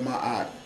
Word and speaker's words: Ma'at: The simplicity and beauty of Ma'at affords. Ma'at is spelled M-A-A-T.